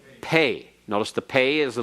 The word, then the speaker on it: pe: p as impact but if it is without the doggish it is pronounced like f or like pH as in fat or as in phone if you want to